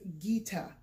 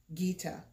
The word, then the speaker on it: Gita: watch for first and the first word is Gita okay can you say that Gita good so the first name is Gita and